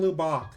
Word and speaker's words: Lubbock: I am saying Lubbock. Bach, not Buck. Saying this as a person who grew up there.